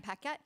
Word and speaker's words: Paquette: Paquette, did I say it right? You did.